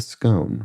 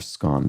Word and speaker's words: scone: crumbly Coffee House confection a scone right okay or scone depending on your preference um and although I